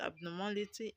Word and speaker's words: abnormality: Now, when a word ends with ty, you should stress the third syllable from the end. Okay, now the third syllable from the end of the word abnormality is ma.